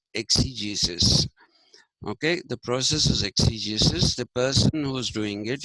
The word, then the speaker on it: exegesis: i s ex Jesus okay the process is exegesis the person who's doing it is the exit